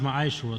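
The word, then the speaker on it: מעשר: Means 10th in the Hebrew and it's pronounced Ma'ashra.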